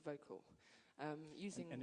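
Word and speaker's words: Vokle: passionate about this uh this great program called vocal um using and it's spelled differently it's helping us yeah vocal spell v-o-k-l-e and when I met them um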